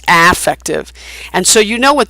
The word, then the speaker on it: affective: Remember that word and how it's pronounced. It's not affective, it's not effective, it's affective.